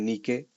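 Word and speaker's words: Nike: nique Y ustedes dirán Por qué Nick así se pronuncia porque Nick es griego no es inglés viene la diosa Nick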